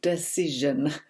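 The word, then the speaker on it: Dacyczyn: money the complete tight wood gazette by amy decision that's how you pronounce it that was one of the first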